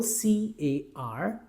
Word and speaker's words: car: If the English alphabet R is used after the vowel sound, then we do not produce raw sound. There's nothing wrong even if you produce this sound, but it is not necessary to produce raw after the vowel sound. For example, C-A-R, car.